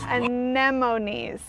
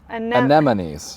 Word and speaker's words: anemones: Anemones. Anemones. Anemones. I say anemones, not anemones or anemones. Anemones. Sometimes when you say it, you make it all ends.